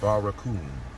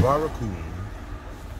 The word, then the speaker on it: barracoon: the bars of that barracoon. A barracoon is a Portuguese term for a slave jail. Barracoon. Barracoon is spelt B-A-R-R bar A coon.